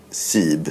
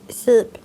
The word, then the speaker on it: Seeb: S-E-E-B. Vad hade du sagt? Jag hade sagt antingen Sib eller Seeb. Nej, det var ju Sib, säger vi. Sib.